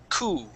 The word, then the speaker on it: coup: remember this word here we would not pronounce that P we just say coup C okay yeah like that P doesn't even exist and we go right to that o sound cou okay good job um